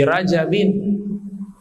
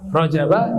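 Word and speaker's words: رجبٍ: tanwin allahumma bariklana Fi rajabin waya'bana waighna Ramadana tapi kalau ada yang baca rajaba juga enggak apa-apa Kalau yang belajar ilmu Nahwu sharf itu harusnya bacanya dengan tanwin ya karena biasanya orang yang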